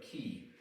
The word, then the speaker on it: qi: is the concept of key in key Kong it's spelled with a Q it's similar to the chi of Tai Chi and in fact Tai